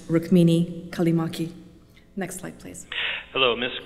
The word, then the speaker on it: Rukmini Callimachi: And just as an aside, I realize that my name is unusual and it's difficult for people to pronounce, but it is pronounced Rukmini Callimachi.